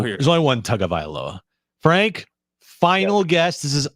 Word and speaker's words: Tagovailoa: Tua's pronounce enough. his That's Tua good. Tagovailoa.